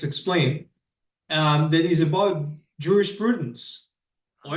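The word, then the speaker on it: jurisprudence: um that is about Juris Prudence or as the Romans would have said Uris Prudence they pronounced the J as a why um for example um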